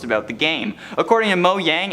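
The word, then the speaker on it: Mojang: the game according to mo yang and yes that is the proper way to say it because it is a company that is swedish quote minecraft legends is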